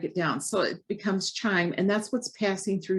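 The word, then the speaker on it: chyme: of a thick liquid it's called chime c-h-y-m-e so if you think of chime rhymes with slime and that's really what's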